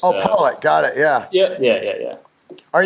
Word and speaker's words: Pollot: It's just Pollot. Yeah. It's Oh, Pollot.